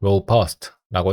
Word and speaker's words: robust: 그래서 뒤에 나온 문장을 좀 보려고 하는데 robust의 강세를 좀 찾아볼게요. 제가 아까 잘못 읽었네요. robust가 아니라 robust라고 읽어야 했습니다.